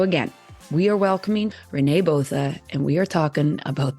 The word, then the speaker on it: Botha: I mean, Botha is the Canadian way. We'll go with that. Yeah. What is the proper way? Well, in South Africa, it's pronounced Botha. Oh, let's do that. Yeah, it's Afrikaans.